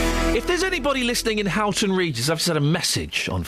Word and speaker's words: Houghton Regis: If there's anybody listening in Houghton Regis, I've sent a message on Facebook. Or Oaton Regis, as the locals say.